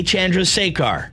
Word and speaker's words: Chandrasekhar: Comedian, director, actor, Jay Chandrasekhar. Did I pronounce that correctly, Jay?